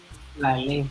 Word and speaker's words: Rale: And she was actually doing body work, what we call in Haiti, Rale. Rale. R-A-L-E, Rale. I know the R is a little bit hard to pronounce unless, you have that.